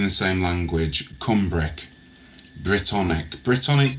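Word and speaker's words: Brythonic: Britonic, by the way, is spelled B R Y T H O N I C. It sounds very similar to the to Britain, the you know the the country, but it's it's spelled differently.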